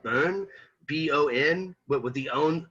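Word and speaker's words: Bön: but with the own the o has the umlaut the two dots on top of it so it's like a like a boon sound i think is how you say it burn almost like burn but like like you're messing it up but um again some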